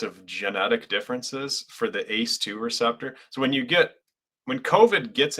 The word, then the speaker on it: ACE2: We just call it ACE2, but it's ACE is how it's spelled, like a fighter ace or something, fighter pilot ace.